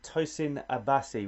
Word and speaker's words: Tosin Abasi: Steve Vai and Tosin Abasi, which I pronounced again correctly too, so I'm really pleased.